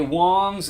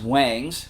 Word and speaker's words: Wangs: this should be a wongs hd15 wongs amplifiers are made in China just like most others you would think it's pronounced wangs but it's Wongs and the description on